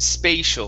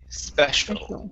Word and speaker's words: special: the word special now here you said spatial spay okay give me a short key special there you go okay